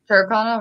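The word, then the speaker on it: Tyrconnell: Turconnell, right.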